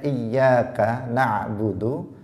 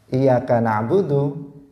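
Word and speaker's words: إِيَّاكَ نَعْبُدُ: Ketika seseorang misalnya mengatakan, harusnya dia mengatakan membacanya iyyaka na'budu, kemudian dia membacanya iyyaka na'budu tanpa tasydid, maka maknanya berubah total.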